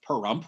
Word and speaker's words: Pahrump: It's at a location called Ash Meadows National Wildlife Refuge in the state of Nevada, outside the town of Pahrump, which rhymes with dump, crystal meth capital of the state.